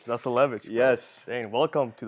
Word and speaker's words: Zasulevich: Zasulevich. Zasulevich, bro.